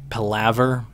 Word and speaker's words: palaver: Your lovely palaver. I always pronounce that wrong. I'm pretty sure I did again. It's like palaver. Yes, that's how you pronounce that.